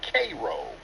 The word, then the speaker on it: Cairo: accent um there's a place in Illinois called Cairo Illinois but they pronounce it cro so that's did you see okay oh okay